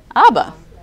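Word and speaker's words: אַבָּא: Olive but it's so if you look underneath that the line there it's called a Fatah is stands for oh okay so that's off the second letter is what bet and that's the bus sound like a be underneath it is another a sound and then it's silent so would you get anybody got it ABBA so what is that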